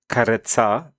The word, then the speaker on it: karezza: KAREZZA, pronounced KAREZZA, is a gentle, intimacy-focused sexual practice where partners engage in slow, affectionate lovemaking without the goal of reaching orgasm or ejaculation.